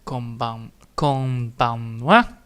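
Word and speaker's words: こんばんは: And then of course, again, we're gonna type it over, so we have konbanwa. And then again, the ha is not spoken out, it's actually a we, which I definitely need to make sure that I type that in, because holy shit.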